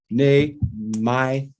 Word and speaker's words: Nahmias: of food Ford Rick nay my welcome all three syllables all three syllables all three syllables nayas you got it in there I know